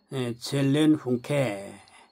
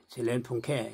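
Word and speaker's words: Seelenfunke: 영혼의 불꽃에 젤렌케 예 젤렌케 이렇게 이제 발음을 하는데 영혼의 불꽃 이게 이제 신성이 자기 흔적을 사람의 영혼 안에 남겨 놓으신 겁니다.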